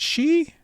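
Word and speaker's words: sidhe: spelling of s d h e which is pronounced she yeah I knew I knew the alternate spelling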